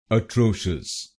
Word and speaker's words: atrocious: become ashas atos and here you have to put stress on the second syllable i.e. tro atos now you know